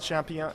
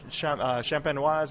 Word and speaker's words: champenoise: And it's the method méthode champignon. I'm going to mispronounce it already. I did it twice. Méthode champenoise à l'ancienne.